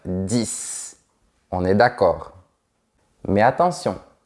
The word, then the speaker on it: dix: 6, 7, 8, 9, 10. On est d'accord. Mais attention, quand tu as un mot qui commence par une consonne ou un H aspiré après, tu ne dois pas prononcer la dernière lettre.